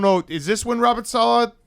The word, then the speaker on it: Saleh: Wide media because Robert Saleh has. God damn, it's one of those things where like Billy has mispronounced his name so many times. Us. Robert Saleh.